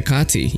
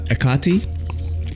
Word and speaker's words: Hecate: quick look at the okati i think they the H is silent on that yeah I like it